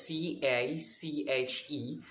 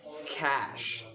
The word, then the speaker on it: cache: it is spelled as c-a-c-h-e that is pronounced by everyone as cache but it's not cliche it's so wrong it is pronounced as cash again cash so cash is a